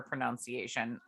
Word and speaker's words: pronunciation: You keep saying pronunciation. You said it in our last couple episodes. It's pronunciation. It's not pronunciation. Like a nun. Like pronun. Pronunciation.